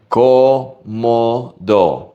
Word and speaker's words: cómodo: Every O in this word sounds exactly the same. Cómodo, cómodo.